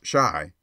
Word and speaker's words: Chi: boy and printer Beau Chi pronounced shy by the way is the argot for Chicago a favorite device of